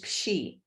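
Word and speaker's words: psin: manuman, and I think the correct way to pronounce that, P-S-I-N, is pshi, and that's the Dakota or Lakota word for it.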